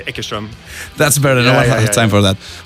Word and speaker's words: Eckerström: It's very annoying to say that in Swedish. Eckerström. No one has time for that. So I say Eckerström.